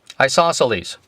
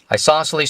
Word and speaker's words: isosceles: an i sauce sales isosceles the c is silent isosceles triangle and it has